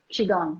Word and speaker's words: qigong: and you're teaching uh chi kong is that how you say it qigong yes yes i teach qigong